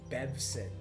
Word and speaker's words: Bevson: Bevson. Bevson. That was a randomly generated name too. Bevson. Which is kind of hard to pronounce too. I expected it to have an O in it, like Bev's son.